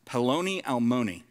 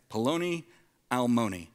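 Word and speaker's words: פְּלוֹנִי אַלְמוֹנִי: In Hebrew, it's pronounced Peloni Almoni, okay? Peloni Almoni, which, does anybody happen to know what that means?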